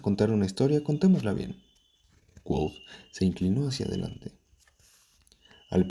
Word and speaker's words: Kvothe: Mi nombre se escribe Kvothee, que se pronuncia Quoth.